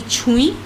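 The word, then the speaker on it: ছুঁই: So this is written with Chandra Bindu in the Bengali script, and it is not a full N, it's only a light touch of the nasal N. So the pronunciations don't have that full N, they have that light touch of N.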